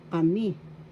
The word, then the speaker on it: kami: sila that means they kami that means we first syllable ka second me Second syllable has the accent.